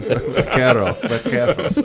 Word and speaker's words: vaqueros: went back to, the vaqueros. And I'm not saying it correctly, right? But it's still cute. Yeah, right. Your R's are wrong. I got to roll my R. You're supposed to roll something. Vaqueros.